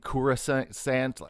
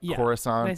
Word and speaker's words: Coruscant: throughout of course um they say like i think kuros sant and like coruscant people say that differently yeah i'm pretty sure